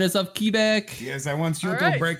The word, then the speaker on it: Quebec: Quebec. It's like there's a W after a K. My Quebec. grandmother's Whoa. from Quebec. Okay, but, Quebec.